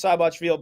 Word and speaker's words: Seyboth: Thiago Seyboth, it's spelled Seyboth Wild. It's pronounced Seyboth, but Thiago Seyboth Wild.